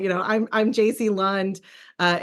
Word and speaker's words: Jaci: you know just say you know I'm I'm JC Lund uh it's pronounced Jac if you got it wrong I thought it was Jackie that's my parents fault not yours uh so